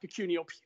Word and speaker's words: Pecunio: I mean, it's actually pronounced pecunio. Pecun means money in Latin, and then IO is initial offer, pecunio.